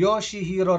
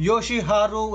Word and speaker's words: Yoshiharu: Ramen for me, the Yoshihiro Ramen from Sanjo Shopping Street Oh, Yoshiharu Ramen, I mean I pronounced it wrong...😅 So, you can view